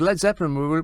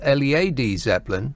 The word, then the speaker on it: Led Zeppelin: called were originally called Le A D Zeppelin, but they dropped the A because they thought Americans would say it like I like lead Zeppelin."